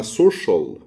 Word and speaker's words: social: الكلمة الأولى اسمها special، الكلمة التانية اسمها social، التالتة commercial، الرابعة ocean.